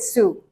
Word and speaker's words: Sault: So yeah, this is how we pronounce it, Sioux.